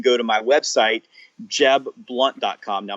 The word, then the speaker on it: Blount: to my website jeb blunt comm now my last name is spelled BL o UNT pronounced Blount in some places in the country one-nothing it says I pronounce it blunt but Jeb blunt comm